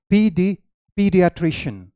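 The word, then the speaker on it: pediatrician: पीडियाट्रिशियन, पीडियाट्रिशियन, okay. तो आप ये मत समझ लेना कि आपने स्पेलिंग चेंज किया है क्योंकि ये अमेरिकन है तो इसकी प्रोनाउंसिएशन डिफरेंट हो जाएगी, ये ब्रिटिश है तो इसकी प्रोनाउंसिएशन डिफरेंट हो जाएगी, नहीं। इसकी प्रोनाउंसिएशन सेम रहेगी।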